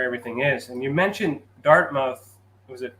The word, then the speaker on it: Dartmouth: And you mentioned Dartmouth. Was it How do you say it? Where are you from? Dartmouth. Dartmouth. Okay.